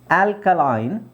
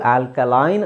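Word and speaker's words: alkaline: ಅದು ಆಲ್ಕಲೈನ್ ಅಂತಾನೆ ಹೇಳಬಹುದು ಸೋ ಇಲ್ಲಿ ಎರಡು ತರ ಉಚ್ಚಾರಣೆ ಇದೆ ಕೆಲವು ಪದಗಳಿಗೆ ಎರಡು ತರ ಉಚ್ಚಾರಣೆ ಬರುತ್ತೆ ಇಲ್ಲಿ ಆಲ್ಕಲಿನ್ ಸಾರಿ ಆಲ್ಕಲೈನ್ ಅಂತ ಇರೋದು ಇಲ್ಲಿ ಆಲ್ಕಲಿನ್ ಅಂತನು ಹೇಳ್ತಾರೆ ಎರಡು ತರದ ಉಚ್ಚಾರಣೆ ಇದೆ ಓಕೆ ಸೋ ಅದು ಬ್ರಿಟಿಷ್ ಮತ್ತೆ ಅಮೆರಿಕನ್ ಪ್ರೊನನ್ಸಿಯೇಷನ್ ಮೇಲೆ ಡಿಪೆಂಡ್ ಆಗುತ್ತೆ ಕೆಲವರು ಬ್ರಿಟಿಷ್ ಇದನ್ನ ಆಲ್ಕಲಾಯಿನ್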